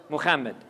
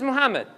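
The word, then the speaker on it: מחמד: Now, a modern-day Israeli will pronounce this Muhammad. Just letting you know, this is incorrect. Real Hebrew, real rabbis, and you heard them, they pronounce this as a ha, okay?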